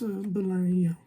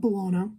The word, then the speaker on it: Bolaño: I'm not the greatest at pronouncing Chilean, but it's Bolaño. Not Bolano, Bolaño, I think, who is my favourite author, probably one of.